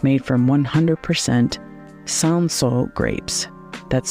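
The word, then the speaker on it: Cinsault: come happy hour it's made from one 100% sanso grapes that's spelled c i n s a u l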